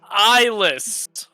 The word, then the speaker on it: Islas: I mean, my name is Islas. The S is silent.